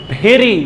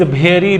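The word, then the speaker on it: very: तो प्रोनाउंसिएशन में हमको क्या पढ़ना है, इसको फ्लावर। तो क्या है, दिस फ्लावर इज भेरी, लोग क्या कहते हैं, भेरी, आप सुने होंगे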